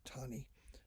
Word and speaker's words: Taney: was roger b taney looks like taney pronounced tawny of maryland 20 years